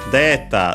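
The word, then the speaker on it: データ: Yes, data on the de, on the first syllable, and also should be for selecto.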